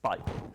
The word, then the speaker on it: beigel: and English mustard, and is insistent about pronouncing bagel thus, different from the typical North American pronunciation. Beigel? Yes, Beigel.